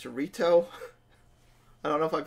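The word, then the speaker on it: Rito: fast it's I finally found out how to pronounce the name it's reto I don't know if I've been pronouncing it wrong but reto okay also I'm very confused at the Timeline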